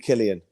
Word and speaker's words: Killian: Keelan Kiley, surely, the way he pronounced it. But he spells it Killian, so that'll do for me. Well, I spoke to him and I asked him, and he said it's Keelan.